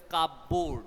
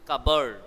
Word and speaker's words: cupboard: Children, don't pronounce it as cupboard. There is no word in English which is known as cupboard. It is cupboard.